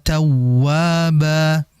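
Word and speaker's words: توابا: Innahu kaana tawwaba. Fokus di tawwa. Tawurf wnya itu ada tasydid. Ini disebut dengan nabr dihentak ya suara yang dinaikkan.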